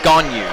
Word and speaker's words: Ganiyu: Yahaya, or that's actually Ganiyu Yahaya, and I was told yesterday it's pronounced Ganyu, so I'll get it in a second.